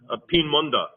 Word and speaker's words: Peenemünde: How do you pronounce that again? It's Peenemünde.